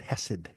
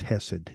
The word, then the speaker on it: chesed: h s e d the C is silent then yeah apparently okay